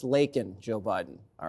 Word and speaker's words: Laken: kamla had done her job vetting these people lakan would still be alive and it's pronounced Laken Joe Biden all right now if you're going